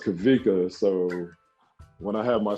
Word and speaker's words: Kawika: my family called me kawika growing up and uh and I don't know why but it's pronounced kavika so when I have